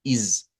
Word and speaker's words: is: no se nos dice que este pronombre no se debe leer con ese, se debe leer con z, con ese silvante, sino que con ese vibrante. Y debe decirse como is, miren.